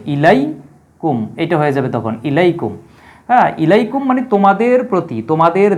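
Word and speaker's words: إليكم: যাবে উচ্চারিত হবে ইলাইম এটা হয়ে যাবে তখন ইলাইকুম ইলাইকুম মানে তোমাদের প্রতি তোমাদের দিকে এটা আমরা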